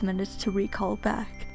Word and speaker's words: Recall: And yes, I found out that it is pronounced recall.